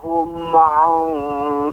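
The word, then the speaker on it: هم: Ya, Allazina hum, Bapak, masih terdengar memantul. Allazina hum'an. Hum'an. Seharusnya tidak ada pantulan. Hum'an. Hum'an. Ya, silakan Bapak diulangi. Alladzina hum an salatihim sahun.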